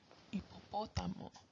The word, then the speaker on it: hipopótamo: But H is silent. Like when you look at helado, you don't say helado. Or hoja, you don't say hoja. Or hipopótamo, you don't say hippopotamo. It's helado, hoja, and hipopótamo. E.